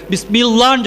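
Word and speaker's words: بسم الله: இருக்குமையானால் கஸ்ருன்னு சொல்லுவாங்க அரபியில், கஸ்ரு இருக்குமையானால் நீங்கள் லேசாக மெல்லினமாக உச்சரிக்க வேண்டும். பிஸ்மில்லான்னு சொல்லாம பிஸ்மில்லா அப்படின்னு சொல்லணும்.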